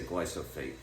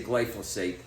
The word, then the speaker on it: glyphosate: the time because I like to say glyat and that obviously that's not the way you pronounce it I know I just